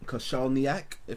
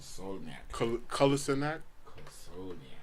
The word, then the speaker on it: Kolasinac: We had goals from Moses and Kosalniak. Did I pronounce that right? Kolasinac.